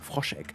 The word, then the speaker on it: Froschegg: You can see we do have also, it still has frosh egg for a reason. So this is frosh egg over here. I should say it in German though, Froschegg.